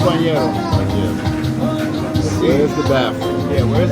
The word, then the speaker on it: banheiro: Or you could just say bañero. Bañero. Because, you know, they'll get you there. Yeah, you're right. The proper way to say it is that way. But if that's a little too much, bañero.